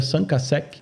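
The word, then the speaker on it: 5àsec: a 7 né então por ser origem francesa a pronúncia seria sancasec sanca mas é muito difícil exigir isso né ninguém vai Vai saber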